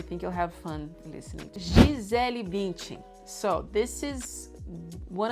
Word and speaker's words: Gisele: No, you say Gisele in Portuguese because we say I in the end of the L.